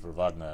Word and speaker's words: Wagner: this character's name so i'm pronouncing it with the germanic v4 vagner as opposed to the w sounds anyway let's see here